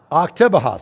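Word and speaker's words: Oktibbeha: Octabeha, thank you.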